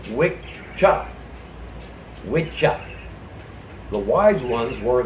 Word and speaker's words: Wicca: the old Gaelic languages, when there was a double C in the word, it wasn't pronounced "ka." It wasn't pronounced "Wicca." The double C in Old Gaelic is pronounced "cha." So the word was pronounced way back when as "Wicca."